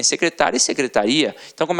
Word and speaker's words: secretaria: com aquela pronúncia e você tem secretária e você tem secretaria e aí já é o que já é diferente já não é mais uma paróquia situada a terminar de tonghua é você já tem uma pronúncia diferenciado então secretária o secretário